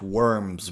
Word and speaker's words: wyrms: heath where the great worms bred. Worms in dragon talk, and it's spelled as dragons, right? WYRMS.